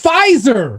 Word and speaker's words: Pfizer: papyr possizer are you how do you say this pfizer there you go for fiverr expects to rape the p is silent yes expects to rake